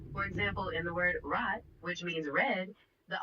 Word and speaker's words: rot: In German, it's often pronounced more guttural, coming from the back of your throat, sort of like gargling. For example, in the word rot, which means red, the R is a bit rougher sounding.